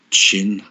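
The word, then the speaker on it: qin: I can't see much more than Quinn being played here. Chin, as it's pronounced.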